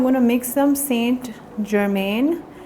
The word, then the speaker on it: Germain: of that, I'm going to mix some Saint Germain. It's another color by MAC only. It's like a really... Huh? Say this again. I'm going to Saint Germain. I'll sound. Okay, so Saint Germain. Germain, okay.